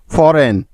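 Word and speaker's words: foreign: ডিজাইন ডি ই এস আই জি এন ডিজাইন ফরেন এফ ও আর ই আই জি এন ফরেন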